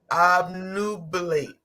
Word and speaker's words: obnubilate: Slow your tongue down. Obnubilate. Nubilate. Nubilate. There we go. Now put it together. Who said, I know. I am releasing my Nope, you're saying too many syllables, boo. Obnubilate.